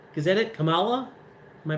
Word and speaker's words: Kamala: how you say her name kamala is that it kamala am i pronouncing it right yeah okay i'm just gonna